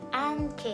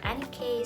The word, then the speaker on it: Annke: unboxing so thumbnail and this is all about ank or wireless doorbell so it's up to you how do you say it ank or NK so it's up to you so this is